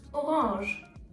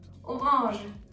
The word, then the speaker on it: Orange: The color is pronounced orange, orange, without an E in the end. The fruit, however, is pronounced orange, orange, with an E.